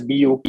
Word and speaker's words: Buk: Now, while it is spelled as BUK, it is Buk Technology, specifically representing booking industry, right?